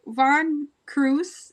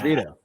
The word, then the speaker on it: Vito: and I found out Von Cruz I don't know if that's how you say it's big veto yeah it's Vito yeah yeah he he